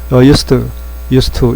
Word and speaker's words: used to: 발음은 used to 두 단어지만 한꺼번에 발음해서 used to 이렇게 발음합니다. used to 이렇게 할 필요 없이 used.